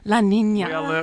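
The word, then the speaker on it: La Niña: time, pronunciation, La Nina.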